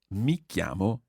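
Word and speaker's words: mi chiamo: llamo me qiyamah and it's quite a tricky sound in there yomo yomo yomo me chiamo Miki amo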